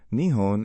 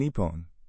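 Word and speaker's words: 日本: But why two pronunciations nihon and nepon? The difference between the two is subtle but significant. Nihon is the more commonly used pronunciation in everyday speech while nepon is more formal or used in specific contexts such as on official documents, stamps or national events.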